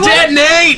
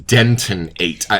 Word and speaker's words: Deton-8: All year I've been saying Denton-8. Yeah, we were Spice being Bomb, very Deton-8.